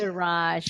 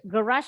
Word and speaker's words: garage: Garage. Good. Garage artinya garasi. Kalau orang Inggris bilangnya garage. The Americans say it as garage. Dua-duanya betul.